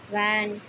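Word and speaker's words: when: डब्लू के तुरंत बाद एच आता है तो एच साइलेंट रहता है। जैसे कि वाई, वॉट, वैन, वेयर।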